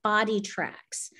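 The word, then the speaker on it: BodiTrak: is a company called body tracks and they come from the golf world and it's called b o d i t r a k body track and they spell it funny and um they're a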